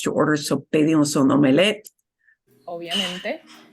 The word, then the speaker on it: omelette: And notice they pronounce omelette. That comes from French and they don't really change it. They keep it omelette.